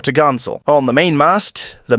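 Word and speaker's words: topgallant: Sail pronounced topsil and four top Gallant sail pronounced for to gansel on the main Mast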